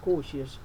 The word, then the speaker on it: cautious: These A and U are pronounced O, so it becomes cautious.